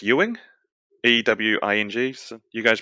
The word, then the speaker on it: Ewing: E and uh I want to say it's Ewing ew ing so you guys pronounce that Ewing a hell off I know